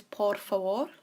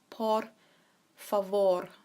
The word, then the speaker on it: por favor: To say please, this is por favor. We have those rolled R's in there. Por favor. So it's a vor towards the end.